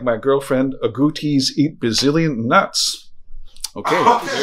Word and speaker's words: agouti: No, it's not a, there've been a lot of people out there getting kind of wrong ideas how to spell this, how to pronounce this. It's actually agouti.